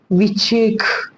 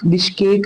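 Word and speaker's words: Bishkek: Kyrgyzstan की बात की जाए तो किर्गिस्तान की विचेक, विचकेक, अच्छा प्रोनाउंसिएशन आप लोग देख लेना। विचेक, बिश्केक जो है जहां की कैपिटल है, और सोम जहां पे करेंसी जो है वो चलती है।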